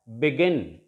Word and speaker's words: begin: Now the stress is on the last syllable here, and we shall pronounce it as begin, not begin.